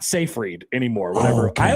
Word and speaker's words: Seyfried: And Amanda Seyfried is also in that movie. Oh, she's in that too. That's how you say her name? So I thought it was Siegfried. It's not Siegfried?